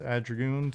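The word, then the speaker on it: Ardougne: The RuneScape city Adragoon is pronounced Adragoon to you. You don't care? What's it supposed to be pronounced like? Adranouge?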